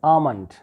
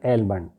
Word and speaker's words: almond: word after ma sound, ba sound is not pronounced. So here is comb, it's bomb, it's tomb, right? Then the next word is almond, not almond.